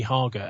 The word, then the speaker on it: Hager: Nicky Hager. Nicky Hager, H A G E R, pronounced like lager.